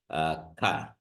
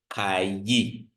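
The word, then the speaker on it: καί: So this is, so you don't say kayi. You don't say kayi, but you just say ka, ka. So yes, the iota pronunciation is in there, but it is embedded in the alpha.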